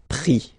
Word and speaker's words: pris: And then prendre, so E-N-D-R-E, will give ES, pris, okay? Same thing here, you don't pronounce the final S, okay?